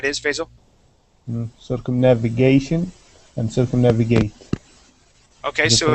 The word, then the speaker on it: circumnavigate: navigate circumnavigation okay so circumnavigate so the the accent's going to change okay so on that first word it's circumnavigate with the accent on the a okay circumnavigate then when